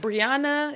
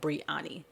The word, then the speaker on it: Breyanni: uh because my name ain't brianna is coming but brianna and the way mine is spelled if i see somebody like even sometimes